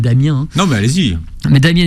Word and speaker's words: Damien: Damien eckles entre autres je le prononce à l'américaine Damien non mais allez-y mais